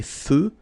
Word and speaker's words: feux: So here, final X not pronounced. Des feux de circulation.